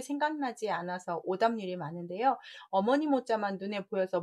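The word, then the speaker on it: 模: 그래서 발음이 막 발음이 모 발음이 되기 때문에 발음을 좀 주의하셔야 될 것 같고, 나무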